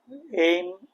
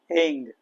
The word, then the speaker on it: ऐं: एम एंग, कई लोग म से उच्चारण करते हैं, कई लोग ग से करते हैं, दोनों सही है।